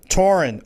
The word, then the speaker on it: Taurean: not only Taurean, let me make sure I'm pronouncing it correct. Is it Taurean? Taurean.